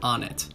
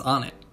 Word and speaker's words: Onett: so let's start with on it it definitely makes sense on a phonetic level like i think most people have gravitated towards one pronunciation because that was the first way they heard it pronounced and i have a